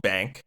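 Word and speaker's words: Baynk: So, I'm going to share a A and B side single from an artist called Bank, which is spelled B A Y N K.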